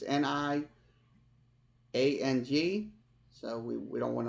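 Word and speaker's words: Niang: another guy Lucas on not Nigerian not urine I'm saying his name right it's ni ang so we we don't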